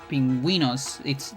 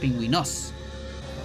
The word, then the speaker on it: pingüinos: Pingüinos, the accent is on the I, but it doesn't have a tilde. Because if it had a tilde, it will be on the O, and then it will be pronounced pingüinos instead. But because it doesn't have, you can tell that it's pingüinos.